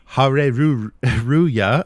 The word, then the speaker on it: Hareruya: So so the name of the store, of course, a very Japanese card shop name, Hareruya. So it's spelled with Japanese syllables, but it sounds like hallelujah. So hallelujah to Hareruya is